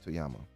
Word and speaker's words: Toyama: Toyama.